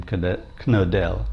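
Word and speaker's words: Knodel: is now dead I I believe you pronounced his last name kodell k n o d l first name Bob and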